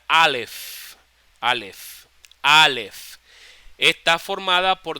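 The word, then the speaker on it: אלף: haya Okay entonces escuchen Alf se pronuncia la f al final la letra alef alef alef está formada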